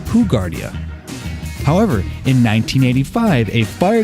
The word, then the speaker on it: Hoegaarden: Yeah, today we have Hoegaarden, or as it should be pronounced, Hoegaarden, but if you go to a bar and ask for Hoegaarden, they're all going to look at you like you're insane.